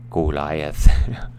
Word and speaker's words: Goliath: Goliath I put this in here for the pronunciation Goliath you know this is a match between David